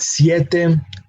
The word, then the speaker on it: siete: Same thing with siete. The pronunciation again of that vowel is sie. And complete the word with te, with the syllable te. So we have siete.